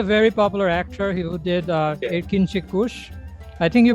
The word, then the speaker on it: Erkenci Kuş: He's a very popular actor who did Erkin Kush. I think you pronounce it like that, right? Ozge? Erkenci kuş.